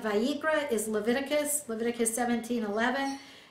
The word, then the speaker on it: Vayikra: there's no forgiveness for sin the uh okay vi ikra i have to think to say it right vayikra is leviticus leviticus 17 11 and i quote